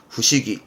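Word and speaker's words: 不思議: 한국어에서 보통 불가사의한 거, 그걸 불사의만 쓴 발음은 후시기.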